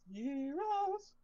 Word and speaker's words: gyros: Actually pronounced gyros.